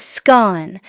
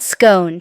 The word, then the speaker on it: scone: Each petty slip from mispronouncing scone, it's scone, not scone, to misusing lovely as lovely became a humorous memory and a lesson in cultural nuance.